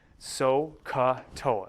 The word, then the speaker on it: SOHCAHTOA: i use the mnemonic sohcahtoa s o h dash c a h dash t o a so k toa that's the shortest one